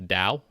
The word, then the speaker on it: Te: 1982 that being the to of poo the da I'll pronounce it correctly the da and the second